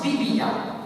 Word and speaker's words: Bébia: est un prénom aujourd'hui, Bébia, mais on le prononce Bibia. C'est en connaissance de cause. Je connais très bien les gens qui s'appellent, qui ont ce prénom. Donc Bébia, qu'on appelle Bibia.